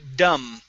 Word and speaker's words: dumb: up is the word dumb okay the b is silent we don't pronounce it dumb okay okay very